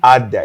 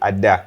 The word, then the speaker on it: Ada: And actually, it's not Ada. It's actually Ada. It's actually a name. It's a Nigerian name.